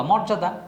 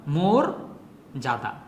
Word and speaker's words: মর্যাদা: অনেক প্র্যাকটিস জর জরুরি শব্দটা তোমরা নিশ্চয় সবাই কি বলবা মর্যাদা নো এটা হবে মোরদা মোর জাদা আচ্ছা এই জিনিসটা কিন্তু